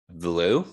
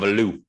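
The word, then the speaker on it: Veilleux: Taquan Roberson and Christian Villu. Is that how you say it? You or Vier? I don't know. You, Vier? It's Canadian, so I'll call him Villu. That sounds like Giroux.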